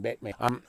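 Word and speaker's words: Baten: You bait man, putting a pronunciation, it's B-A-T-E-N, Batman.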